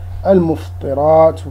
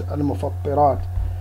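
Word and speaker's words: المفطرات: the author said, Bayan al-Mufṭirāt wa ahkamuha, and also this word can also be pronounced as al-Mufattirāt.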